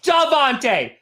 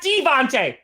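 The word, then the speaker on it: Davante: you know why because devonte adams is spelled with an a it's right there it's davonte not devante duh and i'm sorry i'm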